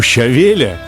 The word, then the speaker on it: щавеля: Вот у щавеля, или, как правильно говорить по-русски, у щавеля, задача совершенно понятная.